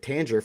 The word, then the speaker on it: Tanger: one here is Tanger I always wanted to call him Tanger because I was thinking oranga Tang um but they pronounced it Tanger for tangerine um which is really